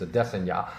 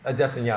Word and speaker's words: Adesanya: But the fight I'm going to talk about right now is Izzy Adesanya, although many people say Adesanya, but apparently the correct way to pronounce his name is Adesanya, and Yoel Romero, because people highly criticize that fight for lack of action.